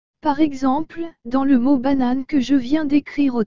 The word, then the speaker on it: banane: exemple dans le mot banane que je viens d'écrire au tableau le e à la fin ne se prononcent pas donc il faut dire banane et non banane eux par contre si la